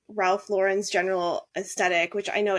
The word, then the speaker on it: Ralph Lauren: an attempt because I can see given like Ralph Lauren's General aesthetic which I know it's pronounced Ral luren I will never pronounce it that way forgive